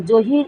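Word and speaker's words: Jahir: জহির Uddin, জহির Uddin, J এ এইচ আই আর, হির, জহির, জে এ এইচ আই আর, হির, জহির।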